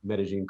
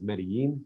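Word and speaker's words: Medellín: facility is located in medellin colombia um i pronounce it that way because that's the way they the locals say it but most people would know it as medellin colombia which is a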